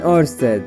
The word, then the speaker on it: Oersted: The professor was Hans Christian Oersted, and yes, you pronounce it like that.